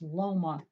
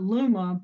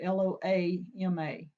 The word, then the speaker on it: Loma: I think it's pronounced Loma Acres, not Luma like L-U, but Loama.